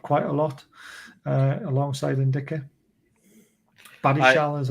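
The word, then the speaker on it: Badiashile: Badishal, is how you pronounce it.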